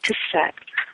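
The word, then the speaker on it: חסד: The word chesed, or chesed, is spelled chet samet dalet.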